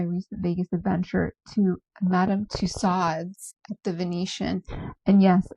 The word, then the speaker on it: Tussauds: Okay, let's talk about my recent Vegas adventure to Madame Tusads at the Venetian. And yes, I said tusads. I have been saying tuso all my life.